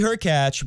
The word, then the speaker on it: Hurkacz: It's not the serve and volley of yore, but Hubie Hurkacz, rhymes with latch, has come to the net more than any other player at Wimbledon.